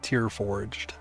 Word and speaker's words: TyrForged: If you're like Savage and want to know how to pronounce it, it's just Tear Forged. Like tears, Tear Forged.